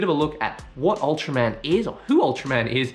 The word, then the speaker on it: Ultraman: you can fully understand ultraman uratura man in japanese way of saying it is a fictional superhero